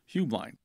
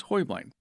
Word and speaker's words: Heublein: to change kind of change their name to hu bline so however you say it it's right but actually the correct Bavarian pron pronunciation is Hoy bline but anyway the the history of the tower